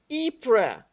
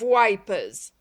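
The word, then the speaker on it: Ypres: been actually pronounced by the name of wipers nothing could mark a thing as more continuously national than that english men sundered by vast centuries should actually make the same mistake and should mispronounce the same word in the same way there is in this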